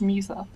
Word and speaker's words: Musa: Yeah, they're based off Winx Club characters, and that's how you pronounce Musa.